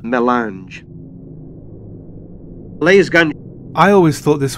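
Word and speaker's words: mélange: Melange. This word is pronounced pretty much as it is spelled. Melange.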